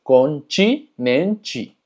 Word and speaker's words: continente: La diferencia es que TI, no importa si está en medio o al final de la palabra, siempre se va a pronunciar chi. Por ejemplo, praticar, vestido, continente. Como puedes ver, termina en TE, entonces es continente.